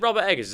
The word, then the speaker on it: Robert Eggers: Is it Robert Eggers?